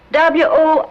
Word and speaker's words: Worcester: But it's spelled W-O-R-C-E-S-T-E-R. Worcester.